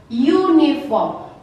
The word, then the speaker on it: uniform: Sekalipun penulisannya tetap seperti ini, U, tapi kita membacanya adalah uniform, maka harus menggunakan a uniform.